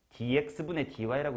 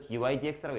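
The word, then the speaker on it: dy/dx: 물론이 기호를 방금 내가 한 것처럼 dx dy라고 읽으면 안 돼. 그냥 하나가 세트여서 위에서부터 dy dx라고 읽어.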